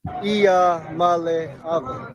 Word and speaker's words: Iamaleava: And he also is nice enough to mention his name every once in a while for those that have trouble pronouncing it. Iamaleava.